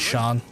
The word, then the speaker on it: Sean: No, I mean the proper pronunciation Sean is Shan. Sean. Shan. I get it sounds like Shan, but it's like Would you look at that?